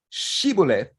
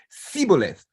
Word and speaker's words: shibboleth: But the Gileadites pronounced the word shibboleth with a sh, as in shoe, while the Ephraimites didn't have this consonant sh in the dialect. So they pronounced shibboleth with an S, as in su, siboleth.